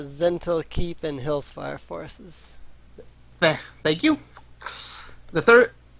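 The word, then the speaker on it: Zhentil Keep: The beast escaped, wreaking great havoc among both the whatever keep that is, because I do not know how to pronounce that. It's Zental Keep and Hillsfire forces.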